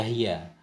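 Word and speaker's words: هي: Nah, ini kalau kita baca hiya. Ada juga yang membacanya hayyi nafsak, siapkan olehmu akan dirimu, jaga olehmu akan dirimu. Kalau kita baca hayyi, ada matan yang bacanya hayyi, berarti fi'il amar.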